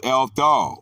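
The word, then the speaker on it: ἔλθω: Pronounced eleuthomai, or active, eltho. Pronounced eltho, which do not otherwise occur.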